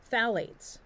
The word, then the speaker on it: phthalate: shatter a lot of um packages also contain phthalates that's how that word this word is pronounced phthalate which makes products softer so it's that it's